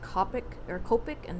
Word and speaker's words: Copic: with you Maru oh Copic I only remember how it's pronounced because it has the word cope in it and like you're trying